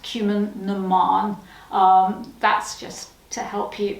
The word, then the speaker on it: Cumann na mBan: It's pronounced Cumann na mBan.